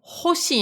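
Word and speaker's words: 星: Et donc, de base, hein, une étoile, c'est hoshi. Il n'y a pas les tenten.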